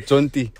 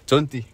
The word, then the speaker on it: Jonty: My name is Jonty. Jonty. Yeah, say it like a... Jonty. Yeah, Jonty. Jonty. No, man, Jonty.